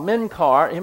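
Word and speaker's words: Menkar: uh the meaning uh this star is called menar me n k a r and it means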